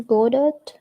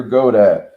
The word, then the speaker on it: Godot: Waiting for Godot. Waiting for Godot.